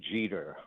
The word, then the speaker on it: Jeter: Wanda Pataki Jeter. Rhymes with cheater.